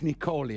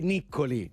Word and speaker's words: Niccoli: You wrote and you co-wrote the song with Luke Niccoli, I think you pronounce it in America, right? So probably in Italy we would say Niccoli.